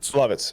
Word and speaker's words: Lovitz: Lovitz.